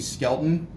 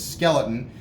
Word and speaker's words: Skelton: his last name being Skelton he was coming it was often men I can understand this often mispronounced as skeleton which is why when